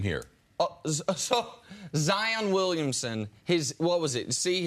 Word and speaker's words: Zion: He said his name is really Zion.